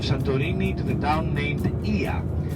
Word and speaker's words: Oia: to the town named Ia. So O and I in Greek pronounced E. Okay, so it's Ia, not Oya. Oya.